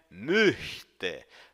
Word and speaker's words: möchte: Preste atenção principalmente à pronúncia da palavrinha möchte. Note que o CH é um chiado lá no fundo da garganta.